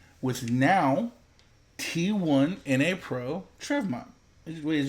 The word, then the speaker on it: Trevmak: Today we are here with now T1 NA Pro Trevmak. Wait, is it Trevmak or Trevmark? Yeah, Trevmak. Trevmak, yeah.